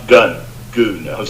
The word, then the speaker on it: gun: made the same mistake it's called goon not gun I English speaking people see gun and they think gun